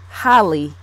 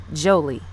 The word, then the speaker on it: Jholie: I'm saying it, because for some unknown reason I keep wanting to say Holly, yes, in place of Jolie.